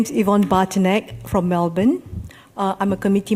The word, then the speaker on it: Yvonne Bartnik: Bourg thank you very much miss unli miss Yvonne Bartnik hopefully I pronounced that correctly please have a seat and if you could state your name and suburb please for the record my name is Yvonne Barton egg from Melbourne I'm a committee member of the